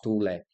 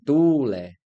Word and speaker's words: tule: Então eu tenho que pronunciar tule. Se a pronúncia é tule, então a forte é tu, então ela é o quê? Paroxítona.